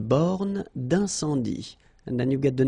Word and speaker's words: borne d'incendie: Une borne d'incendie. Okay, final E here not pronounced. Final E here not pronounced. Une borne d'incendie. And then you get the nasal. Un, en, un, sans, dit. Une borne d'incendie.